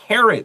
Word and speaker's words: carat: amount of waste.Okay, so carrot, C-R-A-T, 听起来像红萝卜一模一样。It has the same pronunciation.